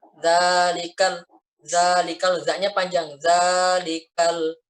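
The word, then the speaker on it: ذَٰلِكَ: nikel Zalika ledaknya panjang dzalikal jangan dalikal Galih kalau salah dalikal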